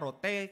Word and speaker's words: Rote: oleh seorang dari asalnya dari Pulau Roti tulisannya bacanya Rote katanya begitu Fredly Edward lango Hai